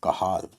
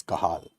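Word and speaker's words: Cajal: interstitial interstitial cells of kahal right spelling is J but it is pronounced as kahal right it is interstitial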